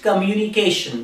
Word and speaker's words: communication: third word is communication we say it communication we don't say company Kimani so it's communication how do you say that come you me patient communication communication so like